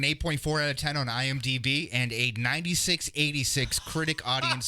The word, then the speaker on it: IMDb: it was like, wait, are you saying BD or DB? So I went back and listened to that episode, and after it happened, I had it right. And then midway through, I was saying it wrong. You were switching it back, yeah. But I always mix it up like that. So IMDb. DB, yes.